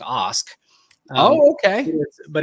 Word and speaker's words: Ask: have told you this my last name is actually pronounced Os Oh okay but it's